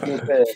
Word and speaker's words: Piotr: Piotr, s'il te plaît, on va pas commencer tout de suite comme ça. Non, Piotr, Piotr.